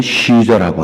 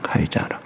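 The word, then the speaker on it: Caesar: 그때 이제 줄리어스 시저, 우리는 시저라고 하죠. 본래 발음은 카이자르입니다. 카이자르.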